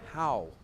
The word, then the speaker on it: Howe: It's probably the most easy word to pronounce. And yet I feel awkward when I say it. How. With that E on the end, Art.